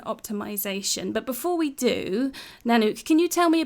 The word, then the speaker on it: Nanouk: today we're talking about search engine optimization hello nanuk hi Martine so good to have you here can you sort my sort out my pronunciation of your surname H yes sure it's nanuk ven I love that g that's brilliant so